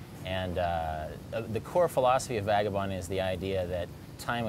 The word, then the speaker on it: Vagabonding: Vagabonding is how I pronounce it, but other people say Vagabonding.